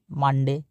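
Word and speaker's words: Monday: Morning মানে সকাল মানডে। মনডে এটা দুইভাবে উচ্চারণ করে। একচুয়ালি এর প্রনাউন্সিয়েশন হবে কি? মানডে।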